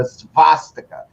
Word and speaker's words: svastika: But the swastika, the actual name for it is the svastika with a V. Svastika. That's the actual way that Germans pronounce it, and the W was